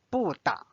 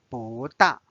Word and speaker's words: 不大: Now you notice it's changed to the second tone because the next one is 大. 大 is the fourth tone, so it's not read as 不大.